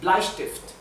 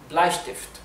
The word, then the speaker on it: Bleistift: Bueno, la palabra para lápiz en alemán es Bleistift. Bleistift. Recuerden siempre que la E con la I se pronuncia AI y la ST se pronuncia ST. ST. ¿Bien? Al igual que la SP es ST. ¿Bien?